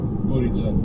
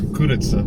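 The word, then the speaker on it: курица: Gurica. Oh. I love me some gurica. That's chicken. That's kuritsa. Gurica. Sorry, pronunciation, right?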